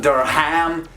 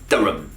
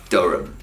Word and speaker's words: Durham: watching will have probably lived there it's not dura ham it's durham again synthesize shorten and overall just be lazy with the pronunciation because that's how you actually end up speaking the real spoken english it's pronounced durum number eight is a confusion we've got shrewsbury